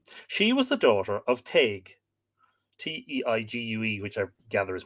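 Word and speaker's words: Teigue: always referred to she was the daughter of tag t-e-i-g-u-e which i gather is probably an earlier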